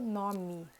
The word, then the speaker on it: nome: Outro detalhe também da pronúncia do português é que a letra E no final tem som de I. No final das palavras tem som de I. Então, por exemplo, nome.